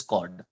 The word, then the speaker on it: chord: It is not pronounced as chord. The H here is silent. So it is chord, right?